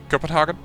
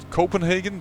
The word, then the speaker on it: Copenhagen: may correct you Samantha it's kopenhagen I know that a lot of people pronounce it Copenhagen but I have learned that that's not the way you pronounce it and probably the way